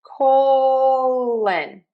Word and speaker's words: colon: Colon I am ending that word in a schwah and I am saying an h. Sometimes I actually do say an n in this. I'm I'm not quite sure why I do that differently, but I do. So we just want to make sure that that second vowel is not another o. It is an uh colon